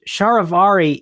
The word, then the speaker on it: charivari: in in written words false identity as a three- syllable word yeah and like why would you like I just don't understand how it changed shavari is like a self- rhyming word like that how how